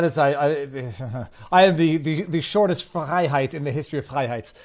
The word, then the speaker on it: Freiheit: It is Frei phonetically because it's half of my last name, which is Freiheit. Viva Frei. Freiheit. Okay. Yep. Freiheit, which means freedom, verbatim in German.